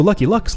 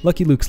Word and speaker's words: Lucky Luke: So Lucky Luck's level... I know that's not how you say it. I should probably start saying it properly. Lucky Luke's level...